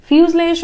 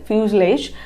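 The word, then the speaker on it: fuselage: इसका कुछ प्रोनाउंसिएशन थोड़ा सा अलग है। फ्यूजलेज मतलब ये जो जी है ये ज्यादा प्रोनाउंस नहीं होगा, ओके, इसलिए इसका प्रोनाउंसिएशन थोड़ा डिफिकल्ट है।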